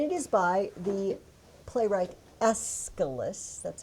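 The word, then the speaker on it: Aeschylus: It is called The Persians and it is by the playwright Escalus.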